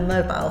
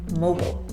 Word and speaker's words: Mobile: the cell phone a mobile phone but that is incorrect it is mobile did you see the